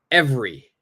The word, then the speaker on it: every: silent last one here every every what is our answer every every every every Peres perfect the second e is silent we do not say